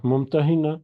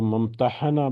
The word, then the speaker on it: ممتحنہ: ممتحنہ female کے لیے۔ تو ممتحنہ اس کو 2 طریقوں سے پڑھا جا سکتا ہے، ایک اس کا تلفظ جو ہے وہ ممتحنہ بھی ہو سکتا ہے، ہا کے اوپر زبر کے ساتھ، تو اور دوسرا ممتحنہ جو عام طور پر ہم پڑھتے ہیں، تو اگر اس کو